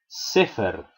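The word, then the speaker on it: ספר: de el f leo la siguiente palabra scheffer del libro scheffer se acentúa al comienzo siguiente vale vale amo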